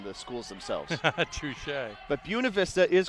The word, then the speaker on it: Buena Vista: I was just going to say, it reads like Buena Vista, right? But that is how they pronounce it, as if it were B-Y-O-O-N-A.